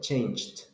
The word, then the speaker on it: changed: pronounce it changed changed good because the last sound that you have is like CH change so changed you don't have vibration change no vibration so T changed next one